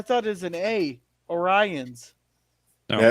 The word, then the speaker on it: Orions: orions ah well actually both populations pronounce the second o as a schwa vowel so um oh look